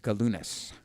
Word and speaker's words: Galunas: So Michael Galunas said, yeah, it's a hard G. Galunas.